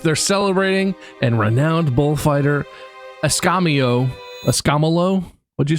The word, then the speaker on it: Escamillo: Well, it's pronounced Escamillo, and he's a renowned bullfighter.